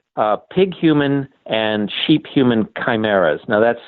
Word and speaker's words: chimeras: experiments to create big human and cheap human chimeras now that's spelled CH imer a this is not your